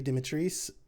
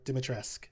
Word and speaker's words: Dimitrescu: Spoiler alert, I didn't, but it's pronounced Lady Dimitrescu or Dimitrescu, however you want to say it.